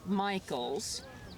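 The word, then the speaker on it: Mikols: my name is Michaels pronounced like the boy's name but not spelled okay way so it's mik O LS I was uh born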